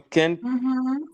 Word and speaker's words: can't: Now, I just want to say that you need to be very, very careful with the way you pronounce it because you said you can. You can means stupid. And now if you say you can't, means tu ne peux pas.